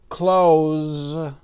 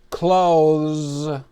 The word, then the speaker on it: clothes: You have a lot of clothes. Clothes. You have many shirts and pairs of pants. Now we can make a flash card for clothes. The pronunciation is the same as to close the door.